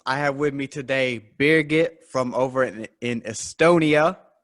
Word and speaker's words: Birgit: to reds ramblings i have with me today beerget from over in in estonia um go ahead